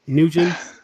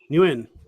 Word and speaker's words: Nguyen: Is that how you like to me to pronounce it? Nugent? Nguyen is fine. Newen.